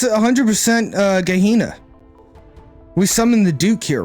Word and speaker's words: Gehenna: Gehenna. Hard G. Gehenna.